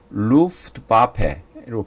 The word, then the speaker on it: Luftwaffe: 루프트와페로 발음합니다.